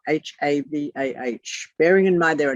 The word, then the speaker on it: Havah: But did you know that the word Eve is the word Havah, H-A-V-A-H? Bearing in mind there are no vowels. H-A-V-A-H, write that down, please.